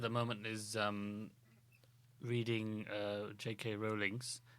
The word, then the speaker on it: Rowling: Rowling's. That's how you pronounce it, Rowling, not Rowling.